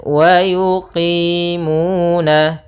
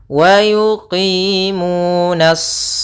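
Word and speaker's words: وَيُقِيمُونَ: Kemudian wa yuqimuna, pada lafal qi itu ada kasrah bertemu ya, yaitu mad tabi'i. Mu ada dhammah bertemu waw, yaitu kedua-duanya kita namakan dengan mad tabi'i.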